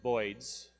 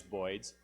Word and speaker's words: boids: he said Birds he he pronounced it voids and that's this is that's how that's how the this computer simulation came to be known as boids but he had this